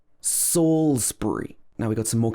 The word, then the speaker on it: Salisbury: example canterbury canterbury and salisbury this is not salisbury saulsbury salisbury now we've got some